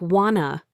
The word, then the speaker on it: want a: The phrase want a also sounds like wanna.